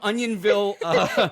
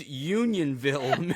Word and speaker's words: Unionville: mean so everybody from onionville Maryland please forgive us um she butchered that one it's Unionville Maryland but we were close onions